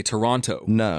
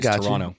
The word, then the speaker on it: Toronto: all the Americans say Toronto which is how it's spelled so I understand that but if you're from there you get rid of that t Toronto got I got I